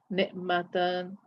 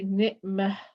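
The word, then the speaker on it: نعمة: So when you are continuing, you pronounce the letter as normal ta, ni'matan, okay. And if you are pronouncing it as a ha when stopping, for example, I will say ni'mat, rahmat.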